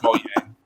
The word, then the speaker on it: Mojang: Wait, is it really pronounced Mojang? It's not Mojang? Yes. Yes, it's pronounced Mojang.